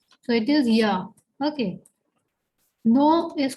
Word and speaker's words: ja: Then Yes is called ya. This starts with J, but we know that J has the pronunciation of Y in German.